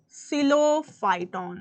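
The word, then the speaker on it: Psilophyton: एंड प stands for सिलो फाइटन सिलो फाइटन प silent है निमोनिया को पोनिया नहीं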